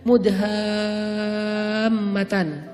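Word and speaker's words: مدهامتان: Namanya surga Mudhammatan. Bacanya juga harus panjang karena dia rimbun banget. Sehingga bacanya Mudhammatan.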